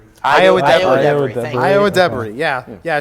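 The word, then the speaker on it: Ayo Edebiri: How would I pronounce this right? Ayo Idabiri. Iowa Debris.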